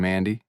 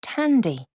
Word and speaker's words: Tandy: how have you been Mandy actually it's Tandy t-a-n-d-y it's an unusual name